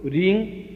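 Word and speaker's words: ह्रीं: इसमें मूल बिंदु रींग बीज है, ये अपना आप में महत्वपूर्ण है।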